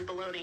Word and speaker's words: bologna: baloney Tennessee There's a bologna it's spelled blo b-o-l-o-g-n-a but it's totally baloney like bologna uh Dallas Texas yeah